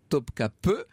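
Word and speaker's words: Topkapı: que ça se prononce que topkapi se prononce bien topkapi et je vais demander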